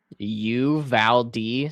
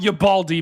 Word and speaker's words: Uvalde: So there's two ways that you can pronounce the town name. I just looked it up on Google. Uvalde, so Uvalde, or closer to the Spanish pronunciation is Uvalde. Huh. Mason says Ubalde. Okay. Uvalde or Uvalde. Okay. It's definitely not Ubalde, Mason.